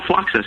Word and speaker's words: Fluxus: and drinking a white we just opened your fluxus is that how you say it yeah fluxus exactly yeah it's a nice beer it's funny